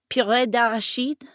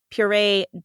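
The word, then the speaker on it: purée: imported from from France PID which is the terrible pronunciation for puree dered which is puree of peanuts I believe is what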